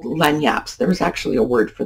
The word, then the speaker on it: lagniappe: And it's an interesting word because the word lanyap is actually Spanish, which is why it has a Spanish spelling. And the reason it has a French pronunciation is we got it through the Cajun Creole French of Louisiana, which has a lot of Spanish influence.